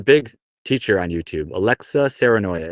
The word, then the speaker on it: Saarenoja: Alexa Serenoya. It's Alexa. Serenoya is spelled Saarenoja.